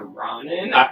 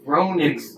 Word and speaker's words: ronin: ninja turtles run and you said ramen did i say it wrong you said around it's ronin people are saying maybe